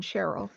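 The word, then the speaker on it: Sherl: piece across that yeah she spells it um s-h-e-r-l but it's pronounced like mine Cheryl I always call her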